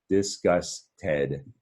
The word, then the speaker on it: disgusted: Disgusted is the syllables, 3 syllables in disgusted.